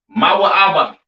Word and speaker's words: Moab: have Moab all right Moab pronounced ma ABA right the children of Moab